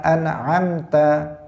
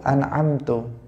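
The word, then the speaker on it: أَنْعَمْتَ: Atau misalnya seseorang dalam i'rab, harusnya shiratal ladzina an'amta alaihim, an'amta. Tetapi dia keliru an'amtu. Dia mengatakan siratal ladzina an'amtu alaihim. Nah, ini dalam bahasa Arab fatal. Ta itu artinya engkau, kalau tu itu artinya saya.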